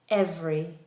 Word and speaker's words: every: The word every. Every. Now every can be either three syllables or two. This is one of those words that is slowly changing.